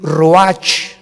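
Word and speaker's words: רוח: capítulo y exhaló Isaac el Roach así como suena se pronuncia la ciah en hebreo como jota roja se les halló y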